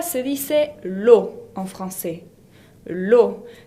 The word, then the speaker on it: eau: L'eau se escribe E-A-U, que se pronuncia O, como ya saben.